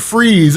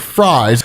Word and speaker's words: Fries: Freeze is. And so, where Joker keeps calling him Mr. Fries, because technically it is spelled the way you would spell fries, but it is pronounced freeze.